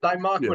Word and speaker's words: thymoquinone: I think I pronounced that right. Dr. Ryan said I did it right last night. Thymoquinone.